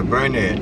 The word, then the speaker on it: Burnett: Jensen and we're on Burnett Street right is that how you pronounce it yeah burn it okay and ready on